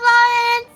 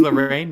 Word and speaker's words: Lorraine: Take care of yourself, Lauren. See you soon. Bye bye. Her name's Lorraine, not Lauren, but bye, Lorraine.